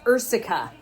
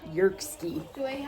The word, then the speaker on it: Ierseke: It's a little town called Ierseke, not Yerkski. Which is how it looks like it's spelled.